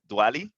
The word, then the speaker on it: Diwali: your time and I know today's um celebration Diwali celebration in India did I pronounce that right Diwali it's Diwali yeah Diwali so please enjoy your